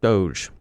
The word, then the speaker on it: doge: named after a dog but not pronounced like dog because it came from an old meme that originated in the home star runner puppet show our home star runner calls strong bad his doge you crack me up